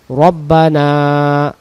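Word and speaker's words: ربنا: কাসাবাত Laha half Laha রব্বানা রব্বানা রব্বানা রব্বানা উচ্চারণ হবে রব্বানা এক আলিফ তু আখি না তিন আলিফ তু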